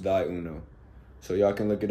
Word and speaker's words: ThyUno: is t h y u.o and that is pronounced d Uno so y'all can look it up it's on